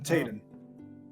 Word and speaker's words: Tayden: Oh, well, I'm Tayden. Tayden. Tayden. Taydon. Got something to say? Trying to get the pronunciation right. Sounds like tater, and I'm gonna throw my t6.